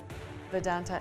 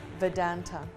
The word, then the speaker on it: Vedanta: News of the scheme's collapse sent Vedanta. Anyway, I pronounced the name improperly. Please. Vedanta.